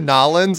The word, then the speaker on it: New Orleans: Because you said Nolans and I didn't even know what you meant. New Orleans. That's how they say it in New Orleans.